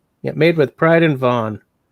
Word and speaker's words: Vaughan: Yeah, made with pride in Vaughan. Now I've probably mispronounced it, right? No, I think it's Vaughan.